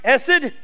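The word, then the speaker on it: חסד: spelled 80 sed but the H is silent and so it's really pronounced ESSID s it it's one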